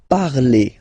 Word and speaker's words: parlez: All right, let's see now for vous, vous parlez. Okay, remember a Z, when you combine them together, you get the sound E.